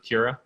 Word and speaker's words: Keira: yeah so well kira i know that you pronounce it that way i think i said kira you pronounce it kira yeah i don't yeah